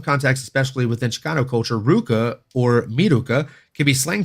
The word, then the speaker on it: RVCA: supposed to be pronounced Ruka it's weird because it's a v but it's it's Ruka sport I don't know